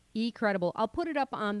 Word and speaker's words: eCredable: it for you folks it's e-c-r-e-d-a-b-l-e so e-cred b l e e credible i'll put it up